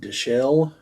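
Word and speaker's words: Dichell: on U the world world the planets it's pronounced Delle d i c h e l l that's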